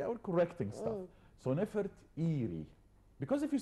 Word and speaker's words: Nefertiti: for his beloved wife, Nefertiti, not Nefertari. There is no A in the name of this lady.